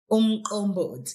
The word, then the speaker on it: umqombothi: I want you to tell me about something that is popular in KwaZulu Natal, and forgive my Zulu, but this is umqombothi.